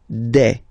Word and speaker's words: des: Okay, and then the plural form, des. All right, here es, you pronounce it like e.